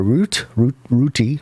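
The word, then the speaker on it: Rutte: our president mark is that route or root root i believe is how it would be pronounced and the coalition have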